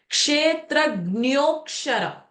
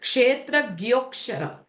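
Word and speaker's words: क्षेत्रज्ञोऽक्षर: You need to understand that while you are pronouncing, you have to pronounce it as Kshetrajnokshara, not Kshetragyokshara.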